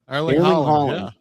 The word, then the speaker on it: Erling Haaland: Arl- Erling Haaland? Is that the way you say his name? Erling Haaland.